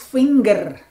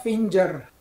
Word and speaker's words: finger: So, this one is finger, not finger. Okay? Saya tahu beberapa G diucapkan J dalam bahasa Inggris, tapi untuk ini adalah finger.